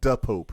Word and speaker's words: Da Pope: Yeah, make sure you say it right. Da Pope. Da DA. Pope.